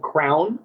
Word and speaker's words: KRWN: The company's called Crown. It's spelled KRWN, and we make amazing grooming products.